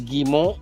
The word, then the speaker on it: Guimont: How do you How do you pronounce it correctly? Gimmo.